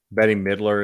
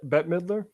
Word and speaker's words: Bette Midler: good tweet on it do you know uh betty midler is matt uh bette midler bette miller yeah thank you i don't but